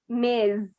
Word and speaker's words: Ms: you can say, like it's spelled like this, and it's Ms. It's so this one is Miss with the S that is a little bit stronger, and the other one is Ms.